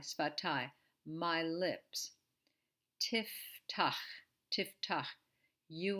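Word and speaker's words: שפתי: Sfatai. This is not easy. We're not used to saying F after S. Sfa. Sfatai. Sfatai.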